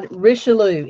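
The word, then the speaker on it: Richelieu: is risho and how risho is how you say it risho risho yep risho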